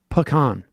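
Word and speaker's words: pecan: sympathizer oh my God stop saying peans pean is literally an Al gunin Word and it's pronounced pan if you don't believe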